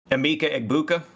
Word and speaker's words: Emeka Egbuka: Emeka Egbuka.